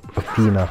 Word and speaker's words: Athena: Athena. Or Athena, I guess is the English pronunciation.